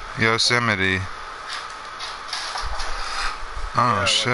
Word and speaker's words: Yosemite: How do you spell it? Y-O-S-M-I-T-E? That's Yosemite. Yosemite.